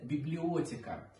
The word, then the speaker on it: библиотека: Самая большая комната в доме называется библиотека. Именно такое ударение было принято в старых петербургских семьях, откуда происходят мама и бабушка художника Василия Поленова.